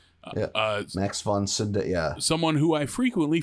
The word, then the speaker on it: Max von Sydow: is that character's name and he's voiced by max von sydow siddow oh no kidding is that how you say his name uh max von cinda yeah someone who i frequently forget exists but